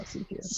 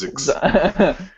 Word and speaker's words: ZKS: Anyways, I wanted to talk about Zombie Killer Squad, or ZKS, as I like to pronounce it. It's not ZKS. Zix. And, Zix.